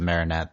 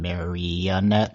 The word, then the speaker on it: Marinette: on the awkwardness of Marinette than the Apparently I was mispronouncing her name Marette last time at Marette Marinette we have to make sure we say that Marinette um okay yeah so